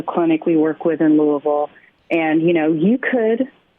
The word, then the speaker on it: Louisville: See, she says it correctly. Louisville. That's it.